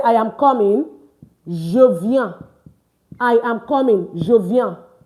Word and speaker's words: viens: The S is not pronounced. It's not viens. It's viens.